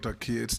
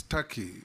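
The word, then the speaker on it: Türkiye: the comments made by it is not called Tak it's Taki it's only written Tak but it's pronounced Taki thank you I that is the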